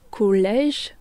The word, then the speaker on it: collège: Le son je donc collège devient. Collègue quand on rajoute un U entre G et E.